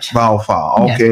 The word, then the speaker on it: Baofu: Mr. Baofu, how am I pronouncing that word correctly? Yeah, you're right. Baofu, okay. Yeah, Baofu, yeah.